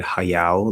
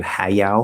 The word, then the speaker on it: Hayao: one so uh hayao so i'd say not even ha i mean saying hayao like i can imagine somebody saying that but i would actually reduce it all the way to schwa and say hi miyazaki yao miyazaki uh maybe even haiyao hayao miyazaki um and then you